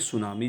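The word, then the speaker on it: tsunami: number questionnami किस भाषा का शब्द है देखिए सुनामी जो है 30 सुनामी लिखा जाता है देखिए सुनामी साइलेंट वर्ड होता है जो की एक्जेक्टली जापानी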